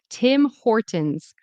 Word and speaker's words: Tim Hortons: Another thing I mentioned with Tim. You want your two lips to be together. Tim Hortonins. Tim Hortons.